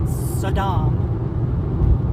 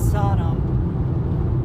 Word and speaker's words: Sodom: i mean it's like it's not saddam and gamra it's sodom sodom like sodomy yeah it's like that